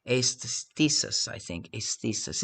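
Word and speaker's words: aisthesis: Aesthesis, I think. Aesthesis. It's a Greek word.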